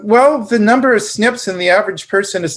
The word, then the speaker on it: SNP: SNP, if people talk about SNPs, it's pronounced SNPs, but it's S as in Sam, N as in Nancy, P as in Paul.